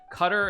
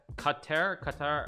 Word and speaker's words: Qatar: It's like Qatar. It's like Qatar. I mean, but it's like Qatar basically is how you pronounce it.